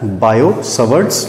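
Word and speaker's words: Biot–Savart: बायो सवर्ट्स लॉ, T silent है, बायो सवर्ट्स लॉ।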